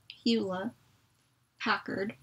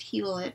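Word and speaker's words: Hewlett-Packard: with a huet Packard I'm always used to saying hila or hila hula Packard instead of hilet because I think the te's are silent in huet um so I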